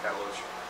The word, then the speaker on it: catalox: are going to be cataloche. It's actually spelled catalox, but it's pronounced cataloche, and setine.